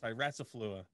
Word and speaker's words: styraciflua: And that is liquid ambar styraciflua. Did I say it right? Styraciflua.